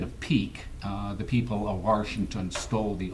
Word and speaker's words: Washington: And yes, I do pronounce it Washington, as do probably 95% of the people that grew up in D.C.